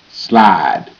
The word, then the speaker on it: slide: Slide. Sl. I slide. Slide. E is silent. E makes the I say I and not I.